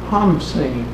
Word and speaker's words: Khamsin: In Egypt, the east wind is called the Khamsin, or another pronunciation is the Hamsin.